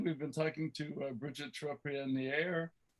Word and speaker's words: Trepanier: Again, we've been talking to Bridget Trepanier. Trepanier, it's that French pronunciation.